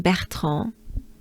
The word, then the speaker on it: Bertrand: r in this name bertrand is it's really the sound of the letter r in french we pronounce it right